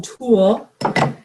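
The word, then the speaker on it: tulle: need some toe or is it taller as a tool how do you say that it's a tool Susan yeah it's - I always called it tall I don't know why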